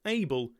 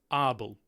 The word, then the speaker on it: Abel Tasman: of Abel tasman's name it is in fact in the original Dutch not pronounced AEL it's arble abble tesmin I do apolog olizee for